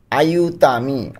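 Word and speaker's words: aiutami: আইউতামি অর্থ আমাকে সাহায্য করো।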